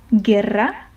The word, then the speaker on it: guerra: But the U ends up being silent. So the U kind of sacrifices itself. You don't read it in order for the G to be pronounced in the easier way. Okay, so guerra you just read the G in its normal form and then you read the rest of the word.